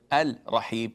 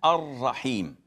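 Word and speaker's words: الرحيم: We don't say Al-Rahman, Al-Rahim. We say Ar-Rahman, Ar-Rahim. We merge it and we put an emphasis on the R.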